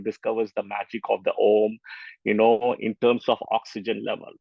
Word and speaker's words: Om: Now you can see the power of Om, which is actually said as right? But we say it as, when you say it, it's like AUM, but when you say it that is how you say it, right?